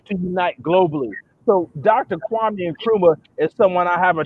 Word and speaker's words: Kwame Nkrumah: Kwame Nkrumah.